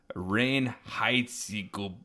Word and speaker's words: Reinheitsgebot: Whenever you said that word, and I actually looked it up, and it has a German pronunciation. It's Reinheitsgebot.